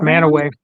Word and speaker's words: Mantua: in Mantua Center, a 9-foot pronounced Manaway. Manaway. Okay, I'm pronouncing it wrong. That's okay. It looks like Mantua.